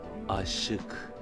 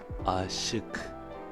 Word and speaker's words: aşık: Et la bonne prononciation c'est çok ağladım, çok ağladım, qui signifie j'ai beaucoup pleuré. On a dit que le CC10 prononçait